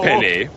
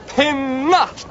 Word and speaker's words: Penna: Not to worry, Chief Penny. My name is pronounced Penna.